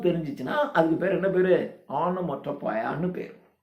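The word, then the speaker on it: onomatopoeia: ஆனோமோட்டோபயா. ONO ஓனோ, Ono Moto MOTO POEIA ஆனோமோட்டோபயா.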